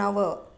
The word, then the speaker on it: hour: He has been writing his test for an hour. Why did we use an hour there? Because here H is silent.